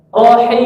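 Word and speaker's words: الرحيم: Mim itu ada alirannya sama nun. Rohim seperti itu. Jangan rohim habis, ya jangan gitu.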